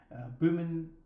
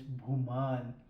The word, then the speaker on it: Bhuman: The first time I pronounced my name is like Boomin, which is such an Australian thing to do, but it's Booman.